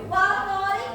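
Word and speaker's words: والطارق: Jadi alif lamnya melebur ya. Yang dibacanya langsung ke huruf to-nya. Dibacanya apa? Waqtorik apa?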